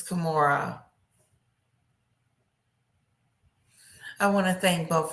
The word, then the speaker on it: Kimura: I want to thank both JD and also I keep saying her name wrong and it just sucks. Kamira. It's Kimura.